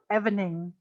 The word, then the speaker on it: evening: fernanda evening evening okay i think you said something like evening you gave it a short e evening you'll have to